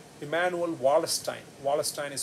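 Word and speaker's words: Wallerstein: emmanuel just like emmanuel khan's first name emmanuel wallace stein wallace stein is spelled w-a-l-l-e-r-s-t-e-i-n emmanuel emmanuel wallace time also extended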